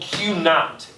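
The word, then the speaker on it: Q₀: The Q to the 0, it's called Q naught. That's how you pronounce it.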